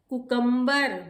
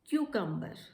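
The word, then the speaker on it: cucumber: कुकम्बर इज the wrong pronunciation. The right pronunciation is क्यूकम्बर.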